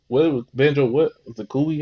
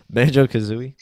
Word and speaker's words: Banjo-Kazooie: Zakuuli, how you say it? Zakuuli? Banjo-Kazooie?